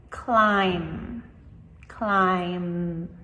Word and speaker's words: climb: So, if you listen, the last sound is M. Climb. Climb.